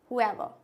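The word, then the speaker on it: whoever: इसको क्या पढ़ते हैं वाज हु एवर इसमें एच पढा जा रहा है लेकिन डब्लू क्या है इसमें साइलेंट है ये क्या है इसके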